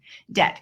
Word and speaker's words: debt: to ignoring the beam put the B in the corner of the room just ignore it debt if you have debt